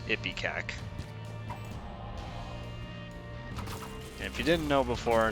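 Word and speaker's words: Ipecac: not pronounced ippy cac yes it is it's pronounced ippy cack if you didn't know before now you know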